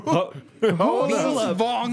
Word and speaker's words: Vaughn: Vaughn. Vince Vaughn. How do you say it? Vince Vaughn. Vaughn. Yeah, like Jimmy just, Vaughn. You don't say the G. There is no G.